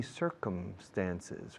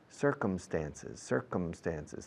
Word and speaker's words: circumstances: So he met my mother in funny circumstances. Fijaos cómo pronuncio circunstancias. Sí, señor. Yes, sir. Circum. Come, como come, venir. Circumstances. Cerrando la boca con la M, por favor.